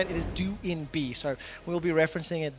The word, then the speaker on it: Doinb: update we have received updated information as correctly pronounced join be his nickname it's how we used to say it is due in B so we'll be referencing it that way going